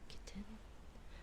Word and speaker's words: kitten: Kitten kitten. I do know that I have that it is it a glottle stop. You don't like pronounce the t where it's kitten or little instead of kitten and little.